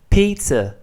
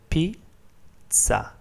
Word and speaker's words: pizza: Now, although it's pronounced pizza in English, so in English you pronounce it like this, pizza. In Italian it's pronounced pizza. The sound ts is basically the sound T plus the sound S, and it's very common